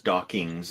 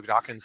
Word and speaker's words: Dawkins: pronounced mispronounced it as dockings but a lot of people do that and so yeah it's important people remember when mentioning Richard Dawkins name it ends just with NS not NGS so just just keep